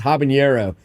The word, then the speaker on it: habanero: I heard Chet mispronounce habanero the H is silent but it does not